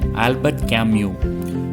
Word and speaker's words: Albert Camus: first author is john paul sotra and then albert camus human being isolator and then in an alien